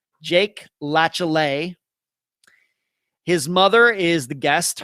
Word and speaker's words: Latiolais: Let's get to this Friday's disappearance, the disappearance of Jake Latiolais, and that is how you pronounce his last name. His last name is Latiolais. Jake Latiolais.